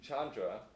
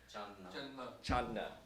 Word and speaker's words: Chandna: So Ashim Chandra, I keep saying Chandra, Chandna. How do I correctly pronounce it? Chandna.